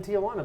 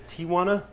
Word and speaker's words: Tijuana: You said it with 4 syllables just now. Oh, it's Tijuana? Tijuana.